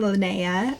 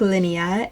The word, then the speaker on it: Linnea: for a comeback the first is the name Linnea or outside of the United States you might hear this from pronounced more like Linea and this is the floral name it's actually